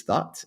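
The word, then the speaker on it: Thoth: Thought. T H O T H. Thought. That's how it's pronounced by the way. Where do you think the term come from? It's not to. It's thought.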